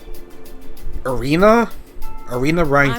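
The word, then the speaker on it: Irina Reinford: Irina Rhineford. I'm Elisa's mother, Irina. Oh, I actually pronounced it right.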